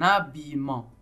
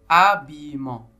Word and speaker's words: habillement: pas ça c'est un habillement habillement habillement abillement habillement la première syllabe c'est a qui s'écrit H a et encore une fois la lettre H ne se prononce pas elle ne donne aucun